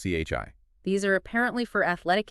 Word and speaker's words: qi: So like these key coils we've seen and just so everyone knows it's key pronouncedqi. Correct. Chi.